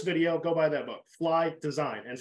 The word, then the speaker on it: Fleye: go buy that book fly design and fly is spelled f-l-e-y-e like I F you know fly um and